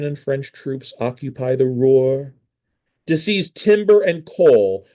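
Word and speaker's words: Ruhr: I should say this is why Belgian and French troops occupied the Roar region. That is spelled R UHR, the Roar region.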